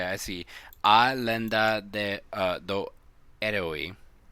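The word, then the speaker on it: Herói: A lenda do eroi. That's how I pronounce it. Eroi. Eroi. But eroi, like the O has an accent.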